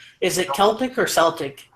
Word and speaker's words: Celtic: as an S okay if a word starts with c okay it's a it's a k yeah right and uh